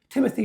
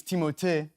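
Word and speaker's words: Timothée: This time I'm looking at the work of Timothy Shalamé or Timote Shalamé. Uh, honestly, it's Timote, but I would not oblige you to say it like that.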